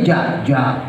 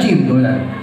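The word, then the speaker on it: جيم: iya pikir lama gitu Jin dibacanya ja ja padahal jim I kan Dal Dal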